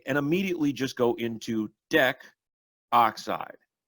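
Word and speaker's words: decoxide: immediately just go into Dec oxide do not end up putting deca oxide or pronouncing a deca oxide because that is not systematically correct for B we have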